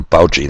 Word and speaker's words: Fauci: oh yes dr demento there he is dr poche that's how you say it thanks bill we've